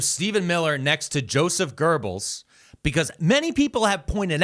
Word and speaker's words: Goebbels: Yes, Robert De Niro, quote, called him, how do you say that guy's name? Not Goebbels. Oh, Goebbels. He called him Goebbels.